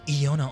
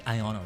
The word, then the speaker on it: Iono: Calling you Iona all the time. I didn't realize it's like Ion. It's got to be Iono, right?